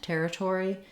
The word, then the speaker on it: territory: And so just like in the word tore, like I tore the page. So you can think about tear the page, tore the paper. I've rewritten it here with O-R-E because that's one typical way we spell that or diphthong. Notice that in territory, both of the T's do have a little puff of air.